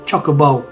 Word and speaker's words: Chocobo: it as you know breaking it down is in chocolate uh and Bowl choco Chocobo choker chocolate Chocobo how do